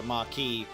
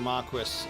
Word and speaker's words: marquis: Like you'd probably have a lot of people want to voice something and call it a marquee, but it's a marquis in the British pronunciation.